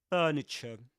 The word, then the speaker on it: furniture: Can you notice the the two R sounds? Furniture. But in British English, furniture.